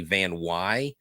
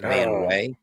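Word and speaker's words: VanWey: attention to it Logan it's actually van Y and not van way it's okay okay all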